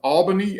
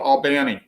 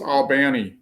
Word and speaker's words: Albany: brewery that is in what most of the normal world would pronounce as albany a-l-b-a-n-y georgia but here in georgia we call it albani so it's albani georgia and it is it